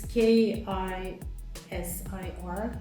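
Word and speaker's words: Kısır: Turkey, which is called KISIR. I know it's a bit difficult to pronounce, and it's KISIR, but we have an I without a dot, so it's not E but I.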